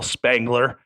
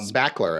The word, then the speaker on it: Spackler: uh Bill Murray Carl Carl Spangler um spackler I think spackler that's what I said